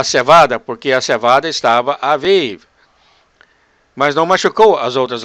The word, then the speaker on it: Aviv: Em hebreu seria pronunciado Avive.